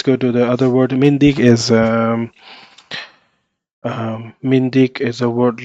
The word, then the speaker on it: myndig: So if you want to listen to the word, that how it is pronounced, you can also click here. Yeah, Mindig.